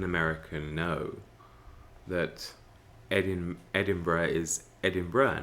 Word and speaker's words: Edinburgh: was at university in edinburgh you know you'd get american tourists come and say ah gee edinburg is such a nice place and of course we're like it's edinburgh but you know as